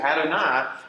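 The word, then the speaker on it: אֲדֹנָי: So what you really have is three syllables here. You got Adonai. So Adonai.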